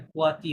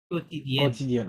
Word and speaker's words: quotidienne: না না, এটা কোয়াতি হবে না, Co- এটা ইউটা তো co- সাইলেন্ট আছে, কিউ ও কেবে কো, কেবে কোতিদিয়েন।